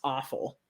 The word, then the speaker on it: offal: So I think it's actually pronounced awful, which doesn't make it sound any better.